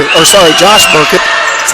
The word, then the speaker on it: Burkett: Or sorry, Josh Burkett, that's how you say his name.